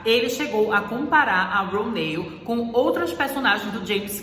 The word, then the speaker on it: Ronal: fazer o papel da Ronal, ou melhor, gente, vou logo fazer uma correção, porque nessa entrevista a gente vê que a pronúncia correta do nome da personagem é Ronale.